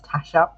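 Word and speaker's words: Tassja: books her name is tasha except it's spelled t-a-s-s-j-a now this is that is that pronunciation how tasha would pronounce her name it's the same pronunciation it's got a j in there and yes it is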